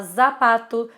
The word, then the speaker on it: zapato: que acontece você vê dá uma vontade muito grande de falar zapato zumo azul né mas assim não é como é pronunciado no espanhol então é tudo S Então vamos ver agora